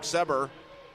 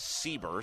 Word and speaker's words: Seber: Long 3 from the left side is up and good, and that was number 22, Luke Seber. And I believe they're going to pronounce it as Sieber. So Luke Sieber with a 3 ball, and that will make it an 18-10 ball game.